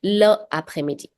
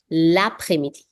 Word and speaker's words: l'après-midi: So you won't say le après-midi. No, that's a mistake. You say l'après-midi. Link it.